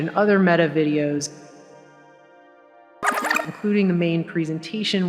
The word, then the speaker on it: Meta: facebook dead because apparently the word meta is pronounced like the feminine form of the hebrew word for dead and so that was